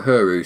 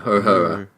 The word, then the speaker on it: Uhura: And Uhura, or Uhuru, sorry, how do you say it? Uhuru, is it? Yeah. Uhura. Oh, isn't it Uhura? Yeah, Uhura.